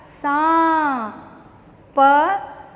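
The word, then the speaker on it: साँप: स, आ की मात्रा सा, चंद्र बिंदु लगा सा, प, सांप।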